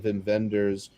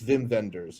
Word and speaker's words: Wim Wenders: I believe it's Wim Wenders is how it's supposed to be Vim pronounced. Vendors? Okay, so both A V's.